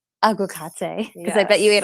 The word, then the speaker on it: aguacate: Aguacate. Aguacate.